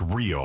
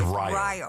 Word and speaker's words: Rio: It's not pronounced Rio like Rio de Janeiro. so. It's Rio. Rio.